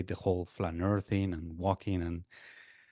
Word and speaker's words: flâneur: flaneur, I'm not saying it right, am Flâneur. I? Yeah. Flaneur. It's okay. So yeah, it's correct. I think.